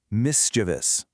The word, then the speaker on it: mischievous: It's mischievous. Just three quick simple beats.